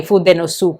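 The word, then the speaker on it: fude: could help to explain why the U insuk in sue is not pronounced. I just try to think of it like in Naruto sask is pronounced as sasuke not sasuk.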